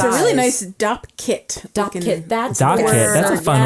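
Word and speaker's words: Dopp kit: I always call it doc kit, D-O-C. Oh, I think it's DOP. What's the correct word? It's called a DOP kit.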